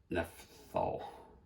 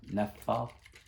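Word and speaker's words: naphthol: got is the uh nephal nephal red I don't know if that's how you say it any pH p h o nepf fall NEP fall cuz pH is an F sound so Neal red nathal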